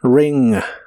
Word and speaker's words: ring: de inglés es ring se pronuncia con la i corta ring ring y en el